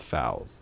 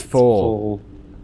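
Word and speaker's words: foal: The way you pronounce that word is so wrong. Is it full? Oh, it's full. Fowl is like a baby bird.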